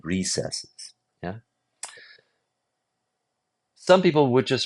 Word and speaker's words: recesses: Recesses. Um, so I'm just going to say recesses is just a different pronunciation than recesses.